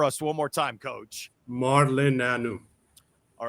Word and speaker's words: Marleneanu: So pronounce it for us one more time, Coach. Marleneanu.